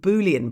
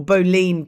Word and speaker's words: boolean: is by doing something called boolean prompting or boline prompting. I've heard it pronounced both ways.